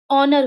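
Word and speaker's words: honour: एच ओ एन ओ यू आर, यहाँ पे भी एच के बाद ओ है तो इसका उच्चारण ऑनर होगा।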